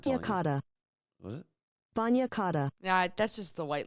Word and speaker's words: bagna cauda: Bagna cauda. Bagna, so tub or bath. Hot bath. I looked up how to say it. Let's see. It was just it's spelled Bagnacauda.